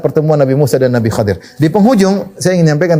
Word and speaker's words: Khadir: Ada yang baca Khidir, tapi banyak yang bacanya Khadir, Al-Khadir, Nabi Khadir. Ada yang baca Khidir, boleh-boleh saja, tapi yang lebih sering disebutnya adalah Khadir, ya.